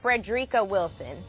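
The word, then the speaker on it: Frederica Wilson: so first let me just start here congresswoman Freda Wilson because that's how we pronounce her name is a former principal she's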